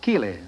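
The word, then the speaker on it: Keighley: came from the English town of Keeley K we e l e y no spelled like my own name ke i g h l e y I understand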